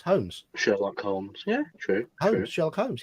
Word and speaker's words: Holmes: In the surname Holmes, for us the L is silent.